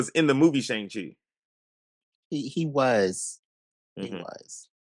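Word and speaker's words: Shang-Chi: Shang Chai Shang Chi.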